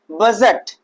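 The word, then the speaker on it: budget: बजट। क्या है भैया? बजट। तो हम यहां पर भी हमारा जी से पहले क्या आ रहा है? डी आ रहा है। तो डी क्या हो जाएगा? साइलेंट हो जाएगा।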